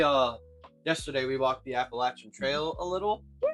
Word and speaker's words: Appalachian: mountains, we're near the Appalachian Trail. I said it right that time. I'm used to saying it Appalachian, but I realize that's kind of nuts, so Appalachian Trail.